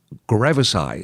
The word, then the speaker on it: gravesi: Australian ornate kangaroo tick named after him, Rickettsia gravesi. Is that how it's pronounced, Stephen?